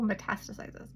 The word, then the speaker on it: metastasizes: It's usually the second syllable, metastasizes, rather than metastasizes.